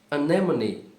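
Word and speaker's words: anemone: Essa palavra se diz anemony.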